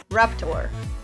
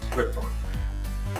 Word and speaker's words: Riptor: And today, and today we're going to talk about Raptor. Riptor. Riptor. It's a great start. You get the character's name wrong.